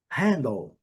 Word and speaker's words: handle: Handle. Nós vimos bastante palavras terminadas com L nessa lição. Lembrando, handle. Primeira sílaba forte, a segunda sílaba bem fraquinha. Handle. Handle. Quase o D nem é pronunciado.